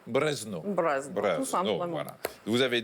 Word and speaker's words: Brezno: Comment on prononce Brezno? Brezno. Brezno.